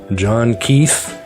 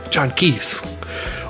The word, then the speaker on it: John Keith: Our spy in this series is John Keith, two syllables like a one-two punch. John Keith.